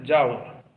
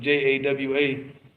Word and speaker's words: Jawa: people the students of knowledge now they're in Jawa what they call Java but if you notice our Indonesian friend always SP it with J AWA yeah that's how it's pronounced what's that that's